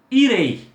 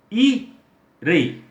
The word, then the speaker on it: irei: Aí eu pego, por exemplo, a palavra, um verbo, irei. Irei. Tenho duas sílabas e numa delas ficou um encontro vocálico do E e do I. Nesse caso, qual que soa mais forte? O E. Então, irei.